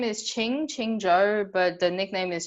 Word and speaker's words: Qing: but the nickname is Ching. I say I help women make more money, but have more joy. That's more memorable because nobody can ever pronounce Q. People go, is it? Like it's Qing.